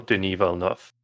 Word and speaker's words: Denis Villeneuve: Is it so just out of interest, is it more of a V kind of sound at the end or more of an F sound at the end? He is pronounced the same way as the Formula One driver that likes to crash a lot.